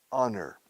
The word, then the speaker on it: honor: A special dinner in my honor. Honor tiene H muda al principio. Honor, pero honor.